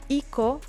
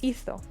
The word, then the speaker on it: hizo: Hico, it is not pronounced the same as hizo. So if you want to keep the sound th, we need to put the Z here.